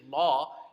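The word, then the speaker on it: لا: say no in Arabic you don't say law you say la correct um and all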